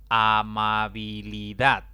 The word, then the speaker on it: amabilidad: Amabilidad. Esta palabra tiene 5 sílabas. La mayor intensidad cae en la última sílaba, contando de izquierda a derecha.